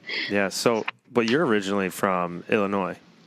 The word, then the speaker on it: Illinois: at school talking about how you do not pronounce the is. The S, yeah. The Illinois. Yeah, Illinois.